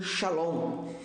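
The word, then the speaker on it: שלום: Há algo interessante aqui que você vai levar ainda nessa introdução que paz no hebraico é pronunciado como shalom, que não significa apenas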